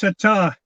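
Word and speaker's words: Sertã: I think it should be pronounced Satar because the accent is over the A. So yeah. The rule generally being that the accentuation is on the accent. So I think it's Satar.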